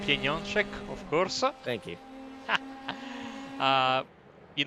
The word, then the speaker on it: Pieniążek: I'm gonna wait for him to help with the pronunciation before I even attempt that. It's Pieniążek, of course.